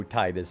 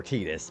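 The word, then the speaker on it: Tidus: One of the many Oh, Titus moments or Tetus. Sorry, I should probably start saying Tetus instead of Titus because that's more accurate apparently.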